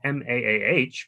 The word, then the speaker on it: MAAH: virtually today the Museum of African-American history or Mah pronounced ma the stone the mathstone book award was